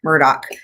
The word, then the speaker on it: Murdaugh: But it is funny because his name is spelled Alex Murdaugh, and of course everyone pronounces it Alex Murdaugh.